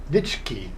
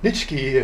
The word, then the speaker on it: Nitschke: Nitschke. It's almost like Nietzsche. But yeah, Nitschke, who performed his first